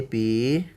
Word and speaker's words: pi: Jadi kita akan mempelajari tentang keliling ya, keliling lingkaran dan nilai pi ya dibaca pi. Nah, ada juga pH ya. Yang penting ini bacanya pi.